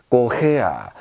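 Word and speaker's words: Korea: 꼬헤야, 꼬헤야 이렇게 발음하시면 되겠습니다.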